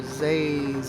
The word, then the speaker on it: Zays: doing it on purpose it's professor zays or like laser with the z how hard is that